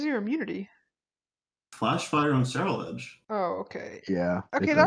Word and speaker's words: Ceruledge: Ceruledge.